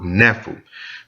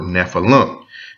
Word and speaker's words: Nephil: from the Hebrew word Nephil. Now, a lot of people pronounce this word Nephilim. And the reason they add that I-M at the end of Nephil is so you can associate them with giants.